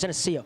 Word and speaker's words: Geneseo: I always say the name wrong. It's Geneseo.